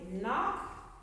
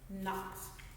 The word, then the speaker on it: knock: tie the knot something's at your door they knock and we're going to add an ed onto knock to make it knocked all right let's say the silent k words